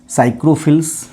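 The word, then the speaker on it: psychrophiles: साइक्रोफिल्स पी यहां पे से साइलेंट रहेगा।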